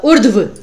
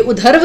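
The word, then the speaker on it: ऊर्ध्व: फिर है उर्ध्व, इसकी जो इसका जो उच्चारण होगा हम कहते ना उर्ध्व, ये उधर्व नहीं है, उधर्व अगर होता, क्योंकि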